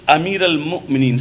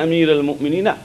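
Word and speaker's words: أمير المؤمنين: There is no Ayn there. It is Amir al-Mu'mineen, simple Alif. The only Ayn appears in the name of Imam Ali himself. There it is Ayn. So it should be Ashhadu anna Amir al-Mu'mineen Aliyan Waliullah. Ayn is in the name of Mawla. But Amir al-Mu'mineen has got no Ayn there. It is all Hamza.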